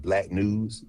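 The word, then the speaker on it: BLKNWS: It's called Black News, but it's spelled blws.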